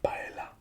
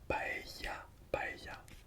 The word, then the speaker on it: paella: Like the English say paella, which is completely wrong. It's paella.